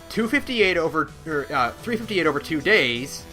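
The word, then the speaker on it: 358/2 Days: Now, 358 over 2 days. Is that how you pronounce it?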